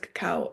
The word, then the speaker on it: Cacao: the invitation I had to always explain what Cacao is how Cacao is chocolate in its purest form and it's pronounced caca and that Coco is a by